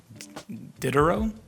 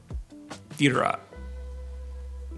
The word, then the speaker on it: Diderot: in the birthplace of Diderot? Diderot. Somewhere in between those two pronunciations.